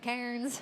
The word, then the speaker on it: Cairns: Cairns.